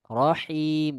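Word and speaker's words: الرحيم: Oke, di Rahman sudah benar. Rahim dengan ha. Him. Ya, diulangi. Bis.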